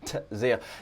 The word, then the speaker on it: Tzeel: And that is a silent T before the Z, so Man of Tzeel.